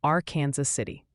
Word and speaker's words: Arkansas City: And a friendly tip for then viewers say Arkansas City, Kansas is pronounced R Kansas City.